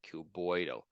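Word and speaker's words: cuboidal: have trouble pronouncing them just change the I to a y and then sound it out so like q and then boyo like CU boyo epithelium so these are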